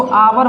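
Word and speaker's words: hour: ए लगा दें, क्योंकि यहाँ पर जो एच है वो साइलेंट है, इसको आवर बोलते हैं।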